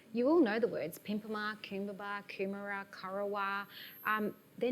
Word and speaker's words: Pimpama: all in Yugambeh language, because the A, the AH sound at the end means place of. So Karawa, place of deep blue sea. Karara, place of the long flat. Pimpama, place of the pimpim bird, the soldier bird.